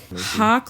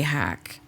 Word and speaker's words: Hawk: I've been kind of hiding for a little while publicly, but Hawk like rock, everyone. That's right. Don't say hack.